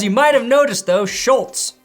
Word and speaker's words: Schultz: As you might have noticed though, Schultz also rhymes with Colts, and that's more evidence than I really need that this deal will happen.